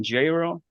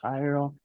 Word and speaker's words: Jairo: name is your name Gyro and I'm totally overthinking like my name well it's spelled but it's pronounced Hyrule it's jail really my